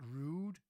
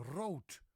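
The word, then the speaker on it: rood: It's not rude. No, it's ro.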